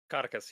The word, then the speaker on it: Codicus: how are you pronouncing his name in this? Codicus or something? Codicus, yes. Codicus.